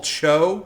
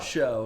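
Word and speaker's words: Chō: So Anyway, I'm excited about that Dragon Ball Cho. That translates to Dragon Ball Super. So I'm actually, I excited think about that. it's just you're mispronouncing Dragon Ball Show. Show. It's Show.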